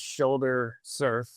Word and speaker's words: Shoulder Serf: Shoulder, just like it sounds, the body part, and then surf is spelled S-E-R-F. So it's not like riding on a surfboard, but it's more like a person in a feudalistic system that's a lowest rung person, a serf.